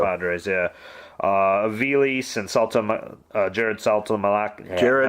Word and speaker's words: Saltalamacchia: Aviles and Jared Saltalamacchia.